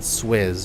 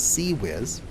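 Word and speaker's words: CIWS: how to pronounce this not swizz or anything like that it's seawiz although i don't understand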